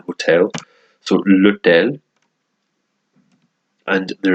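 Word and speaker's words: hôtel: same word except that the H is silent in the hotel to look down and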